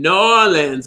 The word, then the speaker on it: New Orleans: and new orleans yeah i even said it right that time new orleans my friend varla gene merman taught me how to say it right because i used to say it like a northern lady and now i'm saying it more like i'm supposed to and then oh